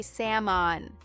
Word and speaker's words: salmon: Throw the L into the ocean, Mike. It is gone. We say Sam on. Sam on like the name Sam.